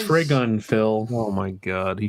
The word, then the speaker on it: Trigun: an anthology thing with a guest artists it's pronounced Trigun Phil oh my God he should have spelled